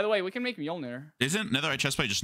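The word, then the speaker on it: Mjölnir: Majolinor. Mjolnir, yeah. I just got told it was like Mjolnir, so Mjolnir. Mjolnir.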